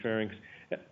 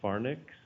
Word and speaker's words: pharynx: throat usually it'll mean pharynx I don't know does anybody ever hear this pronounced as farnics I should hope not no that's good I